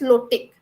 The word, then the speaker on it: lotic: So you can just um keep in your mind if flow it rhymes with low so that is low tick if it is standing water or it stays it is lentic.